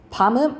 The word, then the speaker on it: 밤: 밤은 먹는 밤 있고 깜깜한 밤 있잖아. 그치? 먹는 밤을 길게 발음해.